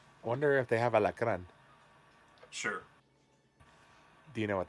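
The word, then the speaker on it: alacrán: Alacran. La Caran. Alacran. Alacran. You gotta roll that R.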